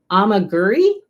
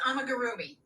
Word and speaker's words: amigurumi: Oh, amaguri. Oh, it's amigurumi.